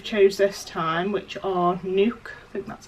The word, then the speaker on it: NUK: the bottles we've chose this time which are nuke but that's how you say it and yeah